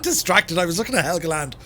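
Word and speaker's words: Helgeland: i was looking at helga land or higaland helga land illegal land but i think it's pronounced helgland it was so beautiful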